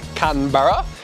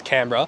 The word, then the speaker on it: Canberra: city of Australia AKA Canton Borough uh it's not pronounced that way it's Canberra I'm here with Linda